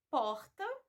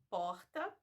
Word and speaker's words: porta: no Rio de Janeiro Ele É pronunciado como se você tivesse falando dois RS tá é um som mais arrastado Isso vai acontecer quando